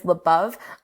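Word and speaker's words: Labov: I want to know, how do y'all say his surname over there? Lebov. Okay. I have in the department, I have heard Lebov. Mm-hmm. In the department. But it seems that the dominant pronunciation is Lebov.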